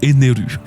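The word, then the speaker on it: エネル: En prononciation japonaise, ça se dit Arubéu, tout comme Ener qui se prononce Eneru.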